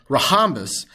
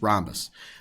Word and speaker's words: rhombus: one diagonal of a rahamus if you forgot how to pronounce it was rahamus i'm just kidding it's rhombus the h is silent okay don't say rehabbus uh you know people